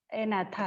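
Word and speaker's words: Agnatha: First one इज जी is silent here, एनाथा है, ठीक है।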